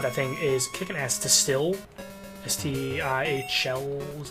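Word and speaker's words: STIHL: Still, S-T-I-H-L, is that how you say it?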